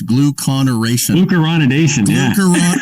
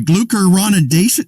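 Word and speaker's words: glucuronidation: a new word to obsess over and it's gluconeration sorry glucoronidation listen there aren't many words out there with six syllables in it i'm glucose oh thank you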